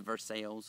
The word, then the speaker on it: Versailles: I come from an area where there's a versail Ohio uh spelled like Versailles.